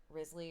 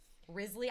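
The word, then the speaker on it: Wriothesley: Risley, I don't know how do you say. Is it Risley? Is that how they say it in the game? I just think calling him Risley is really funny because I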